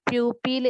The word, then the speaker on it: pupil: People is different, pupil is different. So keep in mind the pronunciation.